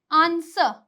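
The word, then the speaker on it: answer: जैसे कि आंसर, टू, टू, ठीक है। तो यहाँ पे भी डब्लू की साउंड क्या है? साइलेंट है, कोई साउंड ही नहीं है।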